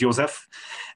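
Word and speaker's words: József: My name is Jozsef, and your pronunciation was very good because the Jozsef in Hungarian is Jozsef.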